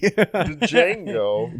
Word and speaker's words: Django: I read that really quick and pronounced the D. Django.